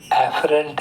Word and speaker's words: afferent: Adference, afference. Exference, efference. But you have to be very careful because the difference is only one vowel. You should be clear in pronunciation. Afferent, efferent. The sensations can come either